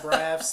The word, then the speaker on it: Braff: No, but it has been helpful to point out Braff like Zach Braff because my last name gets misspelt or mispronounced all the time.